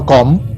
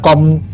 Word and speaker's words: Combe: our trip to Castle Combe Isn't that right, how to pronounce Castle Combe? Hope i pronounce correctly, not Comb, but Combe If wrong, please let me know in the comments.